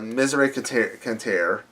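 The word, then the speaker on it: Miseria Cantare: What I like about the album, I'm going to say Leaving Song Part 2 as well, is you have Misery Canter. That's how you say it.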